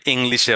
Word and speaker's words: English: জি উচ্চারণটা হয় না, আপনাকে এখানে জি উচ্চারণটা দিতে হবে। মাঝখানে টিপসও দিয়ে দিয়েছি, জি সাউন্ড আছে, এই জি সাউন্ড উচ্চারণ করতে হবে।